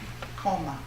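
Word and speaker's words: komme: Koma, koma. If I'm pronouncing it right in German, K-O-M-M-E.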